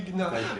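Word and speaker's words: jñā: The verb to know, to jna, pronounced correctly, it should be actually gna.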